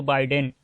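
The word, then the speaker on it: Biden: तो कई सारे लोग जो है जो बाइडेन को जो बिडेन बोलते हैं, तो बिडेन गलत प्रोनाउंसिएशन है, इसका सही होगा जो बाइडेन, और इसका आंसर भी जो बाइडेन होगा और कमला हैरिस।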